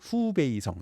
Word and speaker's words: 후베이성: 그럼 북쪽에 있는 건 호북성, 예, 중국식으로는 후베이성 이렇게 발음합니다.